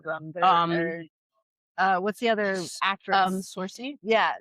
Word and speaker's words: Saoirse: Sorcy? Yeah, Saoirse.